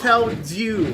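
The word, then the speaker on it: Felldew: It's pronounced fel due like d e w.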